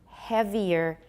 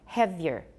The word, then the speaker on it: heavier: of predatory cited earlier so heavier heavier we can make it sound like two syllables instead of three mediate mediate another one